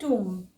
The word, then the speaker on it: tomb: TOMB टूम। Date, इसमें B silent है।